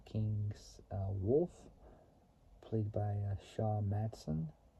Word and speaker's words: Matson: wolf played by Sha Matson his last name is spelled mad DS o n so it's like Matt and Son connected together so sha Matson however the racers were rambush